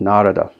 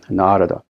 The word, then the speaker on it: Narada: It's not Narada, it's Narada. The first A is long, Narada.